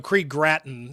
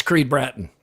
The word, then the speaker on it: Creed Bratton: Creed Graten. And he's from the office. That's Creed Bratton.